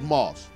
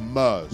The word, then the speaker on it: MERS: Yeah, but so Mars basically it's actually not called Mars. It's called MERS. Sorry, I said it wrong.